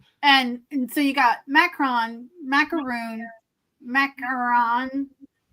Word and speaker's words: macaron: And And so you got macaron, macaroon, macaron, macaroni, macaroni. I I get them all mixed up. Yeah. Mac Mcron. That's how you say it in in French.